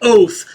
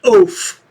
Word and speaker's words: oath: now he can't say oath it's oath o a t h o not oaf you are an oath